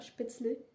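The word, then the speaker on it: Spätzle: au spetsol à skip il faut prononcer ça spetzel quand on est il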